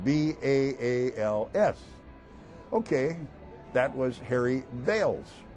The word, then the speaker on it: Baals: And he says, I pronounce my name Baals.